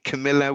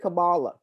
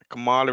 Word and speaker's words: Kamala: let's show them proof let's show trustfully um camilla will um oh kamala what is the right pronunciation for her name because you said it that's it kamala kamala isn't it yeah so looking back at her